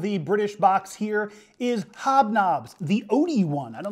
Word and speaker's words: Hobnobs: pulled out of the British box here is hobnobs the Odie one I don't know what that